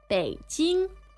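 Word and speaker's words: 北京: Beijing. All right. You probably know how to spell that already. That's third tone, first tone.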